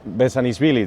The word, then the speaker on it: Bezhanishvili: So, BEZHANISHVILI, did I pronounce it well?